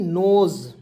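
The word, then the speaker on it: nose: उसके बाद NOSC, नोज, एस का उच्चारण यहाँ पे ज के रूप में करेंगे, नोज हो जाएगा, और नोज मिस होता है नाक, ठीक है जी।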